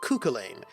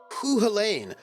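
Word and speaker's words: Cú Chulainn: Cuchulainn? I always pronounce it Cuchulainn.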